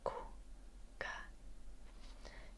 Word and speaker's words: kuka: Kuka. It is the U and the A. Kuka. Ku like who and ka like car. Kuka.